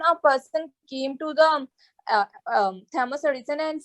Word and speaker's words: Thomas: But you must remember, it is not Thomas, but Thomas. Thomas is pronounced as Thomas.